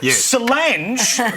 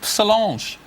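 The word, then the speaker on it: Solange: successful sister name Beyonce is an awesome name Sange is what you unblock a toilet you want to have a look at your pronunciation there Alan Salange Sal that's what you unblock a bday with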